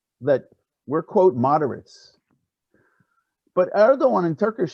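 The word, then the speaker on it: Erdoğan: khan excuse me like erdogan the g is a soft and it's not pronounced basically with the line over it in turkish what did erdogan learn from this from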